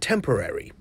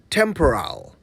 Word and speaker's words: temporary: Thankfully, the effects were just temporary. And that's how you say it right. Sorry, did I take you by surprise? Let me explain. I'm talking about the word temporary. Temporary. Temporary. Not temporal.